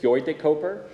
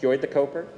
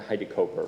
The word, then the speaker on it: Huidekoper: bit of Dutch it's actually hoy if hoy de coper if everyone wants to try it once why not hoy the coper but the the American branch um just goes to hide coper with a long o so for some reason